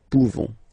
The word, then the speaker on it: pouvons: You don't pronounce the final S. Nous pouvons.